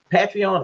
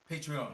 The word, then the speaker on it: Patreon: Is it Patreon or Patreon? Patreon. Patreon. Patreon. Yeah, Patreon.